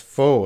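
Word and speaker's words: faux: look at the IPA you can see that that is foe that X that X is silent foe there's no more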